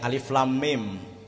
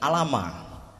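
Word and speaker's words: الم: Niki membacane alif lam mim, mboten alama. Utawa membacanya tidak alam, tetapi alif lam mim.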